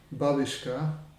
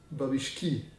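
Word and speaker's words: бабушки: Not babushka, babishki. Oh, one babushka, two babushki, a lot of babushek.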